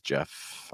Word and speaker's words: Jeff: In case you're wondering, my name is Jeff. I am your host. Jeff rhymes with breath, which is one of